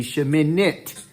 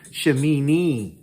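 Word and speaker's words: שמינית: it i t on it would be sheminit but you got to make that sound it can't be an e sound it can't be shamini that's not the proper pronunciation um it cannot be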